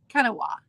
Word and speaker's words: Kanawha: I watched it over and over and over again, and I wrote out phonetically the way she was saying it. So I think it was Kanawha, is how, and she lives in the area,